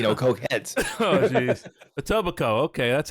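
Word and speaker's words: Etobicoke: native speaker would say a tobico okay as opposed to a toac Coke we don't we don't emphasize the coke here folks because we're not you know coke heads oh jeez a tobaco okay that's how you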